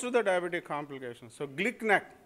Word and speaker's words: GlcNAc: So GLICNAC, it's a nice thing to remember, GLICNAC. I was always wondering how to pronounce GLCNAC, but my American biochemist friend told me GLICNAC. So it's nice to pronounce GLICNAC.